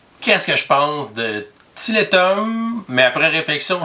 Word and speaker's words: Tiletum: que je pense de tillétom mais après réflexion je pense que le prononcer plus à l'anglaise Talton parce que c'est un jeu de mots avec tal qui les tuiles qu'on utilise dans le jeu bref title comme vous